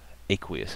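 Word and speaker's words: aqueous: also AQ there also aquous aquous is how we pronounce that when those uh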